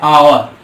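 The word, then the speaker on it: hour: आवर की हम बात करें, यहाँ पे शब्द की बात करें तो यच ओ यू आर है, लेकिन इसके अगर प्रोनाउंसिएशन की बात करें तो आ से स्टार्ट हो रहा है। यच हमारा यहाँ साइलेंट हो जा रहा है।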